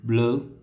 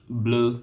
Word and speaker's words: bleu: So the next one is bleu, bleu, bleu, bleu. So the color bleu will be pronounced the same way in masculine singular, plural, feminine singular, plural.